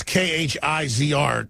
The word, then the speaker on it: Khizr: How do you pronounce this? K-H-I-Z-R. Kurz Khan?